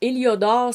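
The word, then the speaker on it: héliodore: ou encore l'é liodor donc éliodor s'écrit avec un H h accent d'aigu l i o d o r e vous vous avez le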